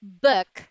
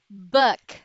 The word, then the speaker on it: book: two letter o's is not an oo sound but it's a softer ooh book book look cook book there you have it